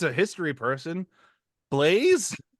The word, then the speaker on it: Blaise: I can't pronounce this name. This is just I know it's a history person. Blaze. Blas.